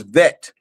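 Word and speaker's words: ב: Another way you could pronounce the Beit is Vet, of Vav. And so is Ab, or is Av.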